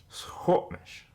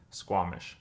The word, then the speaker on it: Sḵwx̱wú7mesh: Hamish Hamish Hamish Hamish Hornish you have now just learned how to say the traditional or accurate way of saying Squamish which we say is Hornish